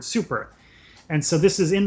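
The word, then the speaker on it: 超: Japanese character for super, which is read as Cho in Japanese, but it's indicated that it should be pronounced as the English word super.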